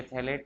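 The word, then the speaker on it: phthalate: थैलेट में pH silent है, ये थैलेट है।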